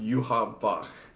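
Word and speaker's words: Yhwach: But it's actually pronounced Yuha Bach for some reason.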